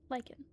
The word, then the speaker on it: lichen: I can also see is that lichen lychen lychen. Yeah, that's how you pronounce it.